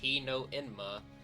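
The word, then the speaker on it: Hino-enma: Hino Enma. I said that right. Pronounced Heo Enma.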